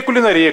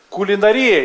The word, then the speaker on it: кулинария: Кулинария или кулинария? Вот я, например, привык говорить кулинария, а мой друг Борис Бурда говорит на старый манер, говорит кулинария.